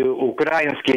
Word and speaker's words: украинский: Алекс, все-таки вы из Украины, и украинский нельзя говорить. Это говорят расисты. Украинский, украинец. Украина – это ударение на «и».